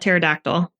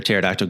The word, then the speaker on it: pterodactyl: Do you know why you can't hear a pterodactyl go to the bathroom? Why? Because the P is silent.